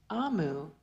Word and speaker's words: Omu: there's a note here omu is pronounced AMU and is the igu term for Queen igu is a language